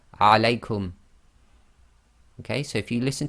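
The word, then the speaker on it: عليكم: Now when you pronounce this, you have to get the lengths right. The diphthong must be too long, so you have to go alaykum. You can't say alaykum.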